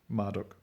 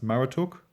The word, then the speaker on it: Marduk: might say the lame named Marduk was probably pronounced Mara talk Maru took the entomology of the